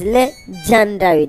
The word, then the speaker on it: LeGyandary: like we said before legendary is spelled with a y after the g so that it is le gendari that john for his